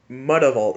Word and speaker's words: Mutavault: Mudavault. Isn't that the correct? That's clearly the correct way to say Mutavault, isn't it?